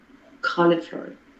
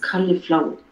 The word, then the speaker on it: cauliflower: Yeah, en lugar de collie, dile cali. Cauliflower. Yes. Cauliflower.